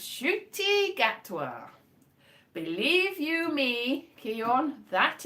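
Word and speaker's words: Ncuti Gatwa: still patrick trotton but yes it is it's pronounced shooty gatwa believe you me kion that is how well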